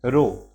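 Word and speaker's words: rho: वाला सिंबल होता है इस सिंबल को हम लोग प्रोनाउंस करते हैं रो क्या प्रोनाउंस करते हैं रो तो उस समय जब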